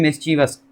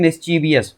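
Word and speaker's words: mischievous: होता क्या है कि जनरली हम इसे पढ़ते हैं मिसचीवियस और वही हमारी आदत में आ जाती है।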